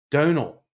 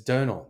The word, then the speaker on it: Domhnall: How do you say it? Donal. Okay. I'd never put much thought into that. I've only seen his name written. It's Donal. That's not that hard.